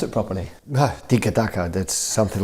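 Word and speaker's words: tiki-taka: phrase come from and uh how do you pronounce it properly tikka ducker that's something like this that's how he puts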